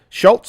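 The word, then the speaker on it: Schulz: That's how you say it. Schultz. I keep adding a T to it.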